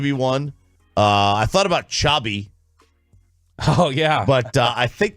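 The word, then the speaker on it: Xabi: Also just sounds Chabi. I think it's Chabi Alonso. Oh. I think you pronounce the V as a B, right? Yeah.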